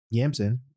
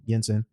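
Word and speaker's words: Yinsen: He talks to to Yansen. That's not how you say his name, but whatever. Yeah, Jensen. There we go. Yensen.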